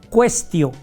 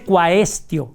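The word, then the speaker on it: quaestio: Entonces, para poner una pregunta se ponía cuestio, se escribe cuaestio, cuaestio en latín, pero no se pronuncia la a. Entonces, no se dice cuaestio, sino cuestión.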